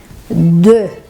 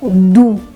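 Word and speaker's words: deux: O quinto erro é o número 2, a pronúncia do número 2, que é de. E não do.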